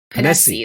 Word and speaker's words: Ponesse: Did I pronounce it right? Ponesse.